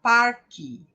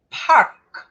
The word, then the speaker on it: park: Os brasileiros tendem a falar parque. Parque. Até pela semelhança, né, com a nossa palavra que é parque. Né? E muitas vezes até a gente pronuncia parque, com a letra I. Então, perceba, não é parque, é park.